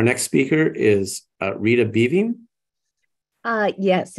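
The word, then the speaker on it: Beving: ASM girl um again my name is Rita bevine and I live in Dallas Texas I've been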